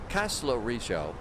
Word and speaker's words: Kastellorizo: We are on our way to Kastellorizo. The Z is pronounced.